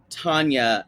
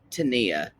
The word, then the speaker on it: Tania: move on to now I know you probably say Tanya and Sinjin on our show we say Tania and Sinjin because that's how it's spelled I will correct you if you say Tanya don't worry uh there is no y there you're right it is an I we've had I would